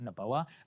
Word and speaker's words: Noboa: Noboa.